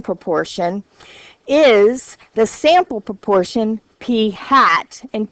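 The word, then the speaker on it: p̂: have we no okay the sample proportion that's pronounced P hat is the best point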